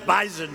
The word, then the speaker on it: Bison: were talking about bisen I said I thought it was an S they said it is but it's pronounced bisen so we didn't want